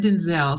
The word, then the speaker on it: Denzel: I saw the video clip of my beloved Denzel saying his name is actually pronounced Denzel, I can't say it any different now.